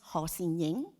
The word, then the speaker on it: Ho Sin-ying: So my Chinese names in Cantonese is pronounced Ho Sin-ying.